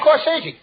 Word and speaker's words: corsage: Not corsage. That's corsage. Spelled A-G-E. Is pronounced like odd, as in corsage or garage.